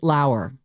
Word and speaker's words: Lower: Do you know the name Britt Lauer or possibly lower? It's spelled lower.